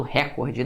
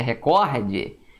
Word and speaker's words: recorde: Que o pessoal fala muito recorde, não é? O certo é recorde.